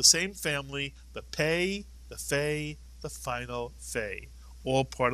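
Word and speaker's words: פ: If you take the point, the dagesh, out of the pei, although it's still a pei, it makes an f sound, and therefore we call it a fei.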